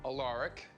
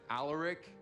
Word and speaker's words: Alaric: Alaric belongs to a very dead great-grandfather I'll never be able to thank enough. You'll probably want to pronounce it Alaric, but it's Alaric, okay?